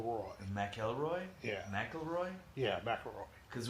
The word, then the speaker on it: McElroy: elroy sorry yes i'm saying mack elroy that's how toad is pronounced okay got it okay